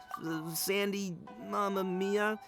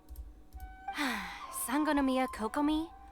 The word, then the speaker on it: Sangonomiya Kokomi: Sandy Mamma Mia, whatever her name was? Now that's the wrong pronunciation. Well, I find that very hilarious. Sangonomiya Kokomi?